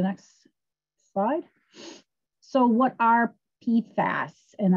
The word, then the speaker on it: PFAS: slide so what are p fast and i i try to say that with a long a p fast um our purim poly